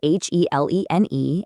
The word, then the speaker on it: Helene: That's spelled Helene and pronounced Helene.